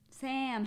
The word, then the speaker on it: Sam: First name rhymes with Ham. Sam.